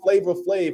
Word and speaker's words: Flavor Flav: you know it is flavor flave in terms of pronunciation but in terms of how you write it it is you write it like flab f laav v so it is flavor flave though so yes but uh